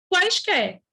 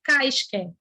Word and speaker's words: quaisquer: Quaisquer, quais, ó, não é caisquer, o mudo, é quaisquer.